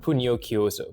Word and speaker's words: Pugnochiuso: That's pronounced officion technique and Puno Kyooo, by the way.